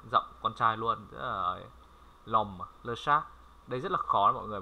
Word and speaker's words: le chat: T không đọc nhá. Sha. Le chat. Đó, lơ sha.